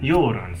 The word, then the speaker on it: Göran: Goran or Goran? Göran. Sorry. Göran is the name.